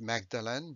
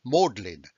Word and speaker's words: Magdalen: jargon then magdalene college is not pronounced magdalene but it's pronounced modlin that is a signal